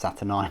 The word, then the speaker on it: Saturnine: by graeme mcneal and now we're up to saturn 9. the reason why i know it's pronounced saturn 9 is actually because i played bioshock recently and